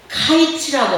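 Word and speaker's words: קיץ: 여름 과일을 카이츠라고 하고 끝이라는 말을 캐츠라고 하니 카이츠, 캐츠 비슷한 발음으로 하나님께서 말씀하신 것입니다.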